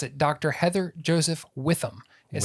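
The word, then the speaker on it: Joseph-Witham: So I now know how to pronounce it. Dr. Heather Joseph Witham is how they say her name.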